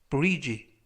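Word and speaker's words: bridge: 표현이 되겠습니다 이번 표현은 브지 브지 지라고 발음하시면 되겠고요 이때 유의하 실점은 가운데 부분에 있는 알파벳 D 무음이라 이번 단어에서는 발음이 되지 않습니다 그래서 지라고 발음하시면 좋겠고요 품사는 명사 뜻은 다리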